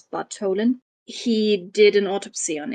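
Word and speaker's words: Bartholin: yes um Thomas Bolan he's he's written with a th but they don't have th in Danish so I'm going to pronounce this Bolen he did an autopsy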